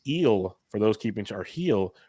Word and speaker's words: Gil: for those keeping or heel L keeping track of home it's Gil but you pronounce it heel um 249 leagues as